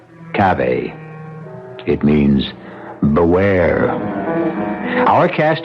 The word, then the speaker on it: cave: Latin word spelled the same way c-a-v-e but pronounced Cabe it means beware our cast included Marion Zelda's